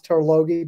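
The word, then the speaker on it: Tarlogie: uh at uh glenmorangie in scotland it's the tarlogy springs uh alastair could you pronounce turlogie better than i can no that was perfect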